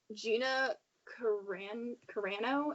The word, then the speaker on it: Carano: So, The Mandalorian fans want, Gina Carano, is that how you say her name?